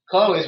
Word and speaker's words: Chloe: in your case, though, just like in Chloe's with the KH, you're still pronouncing it with a hard C. So it actually isn't a digraph because it isn't changing the way that it sounds, right, Chloe?